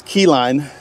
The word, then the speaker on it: Keyline: And that's Keyline, like L-I-N-E, not lime. L-I-N-E. Keyline.